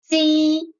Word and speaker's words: Qi: Qi, Qi, Qi.